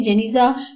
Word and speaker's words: Genizah: calamitous yield with Hodges Coakley Genizah pronounced Ganges ah both ahem whose room Mehta